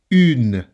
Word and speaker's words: une: Une. Une. Notice that I don't say une because the E is silent.